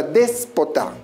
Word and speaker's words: déspota: Por ejemplo, la palabra déspota. Tenemos una, dos y tres sílabas. ¿Dónde se encuentra la mayor fuerza de voz? Recuérdalo, última, penúltima y antepenúltima sílaba. Al encontrarse la mayor fuerza de voz en la antepenúltima sílaba, se constituye en una palabra esdrújula.